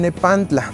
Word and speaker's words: nepantla: su nombre como el nepantla. Este nombre está pronunciado en la variante nawat t y l. Muy bien. En la variante nawat que nosotros utilizamos es con una variante con pura T.